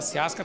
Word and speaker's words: Ciasca: A gente fala Via Chiasca, que é a pronúncia certa, né, Rui? Boa noite. Boa noite. Mas se escreve Via Chiasca. Então, se você falar Via Chiasca, também não está errado, não, que é o portuguesado.